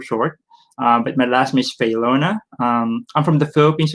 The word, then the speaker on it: Faylona: uh right for short but my last miss feylona um i'm from the philippines originally i've been